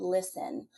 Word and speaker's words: Lyssn: Instead, the tools that we've been working on, I have an industry partner with a group called Listen, which is spelled Lyssn, because it's not intuitive if somebody goes looking for it, but that is how it's actually spelled.